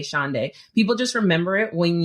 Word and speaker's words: Shaundai: I always say it pronounce it like a day of the week Saturday Sunday shaay people just remember it